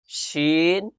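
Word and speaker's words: ش: উচ্চারিত হয়, যেমন জিম, শিন, ইয়া। জিম, জিম। মুখটাকে সরাই দিবেন, জিম, জিম। মুখ ছড়াইয়া উচ্চারণ করবেন, জিম। শিন, শিন। শিনে বাতাস বের হবে, শিনে বাতাস বের হবে।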